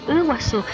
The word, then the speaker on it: Iguazú: Lo de Umaguaré, y es Umaguaré, y por ejemplo dicen Iguazú, y yo Iguazú dicen, perdón, y yo le digo, no, es Iguazú, Ibotí, el conjunto Ibotí,